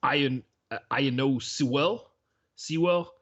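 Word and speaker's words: Penei Sewell: It's Iano Sewell.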